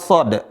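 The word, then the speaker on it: ص: Ini semua dibaca 6 harokat. Berapa? 6 harokat, 6 ketukan. Makanya dibaca panjang.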